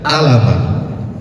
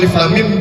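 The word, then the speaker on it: الم: Kalau kita enggak paham, kita akan baca alama. Nah, jadi kalau Bapak dan Ibu bertanya-tanya, kok alif lam mim dibacanya alif lam mim? Kenapa enggak alama? Karena alif lam dan mim adalah salah satu huruf muqattaah dan dia berada di awal surah.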